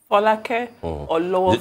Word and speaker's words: Folake Olowofoyeku: Folake Olowofoyeju. Just a quick one, Folake. It's so nice to hear my name pronounced.